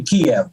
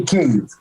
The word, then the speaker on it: Kyiv: Now, the Russians say Kiev. Okay. And we say Kyiv. Kyiv. Kyiv? Kyiv. Yeah, get it? Kyiv. Kyiv. Yeah. There's a Y and an I. Yeah. It's not Kyiv.